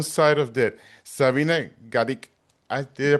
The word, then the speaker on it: Gadecki: Side of Death, Sabina Gadecki. Did I pronounce it correctly? No, Gadecki, it's beautiful. No, it's Gadecki. beautiful. No, it's beautiful. You did. It's a Polish last name.